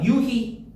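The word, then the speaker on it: 유희: 자, 그다음에 자, 유히. 이유야. 히. 히히. 그렇지. 휘가 아니고 히.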